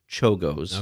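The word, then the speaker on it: Czolgosz: no worries it's uh it's spelled c-z-o-l-g-o-s-z but it's pronounced chogos okay he was a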